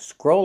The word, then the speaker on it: scroll: And now we have scroll up and scroll down. Pronunciation. Use the long O. Scroll. Scroll. Plus a dark L. Scroll. Like in old and cold.